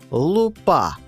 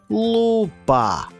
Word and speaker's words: лупа: волоссі з'являються білі рошинки вони називаються лупа а з наголосом на перший склад це слово вже називає збільшуване скло лупа наше серце Та взагалі